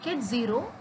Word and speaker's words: ket 0: These states 0 and 1 is to be pronounced at ket 0 and ket 1.